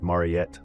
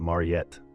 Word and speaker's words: Mariette: Her name, she insists, is not pronounced Marott like a horse, but Mariet like a flaw.